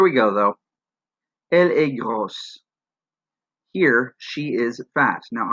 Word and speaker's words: gros: Another example here is this word, il est gros. He is fat. Ils sont gros. They are fat. Now, because gros already ends with a silent S, you don't do anything to make it plural in the masculine form.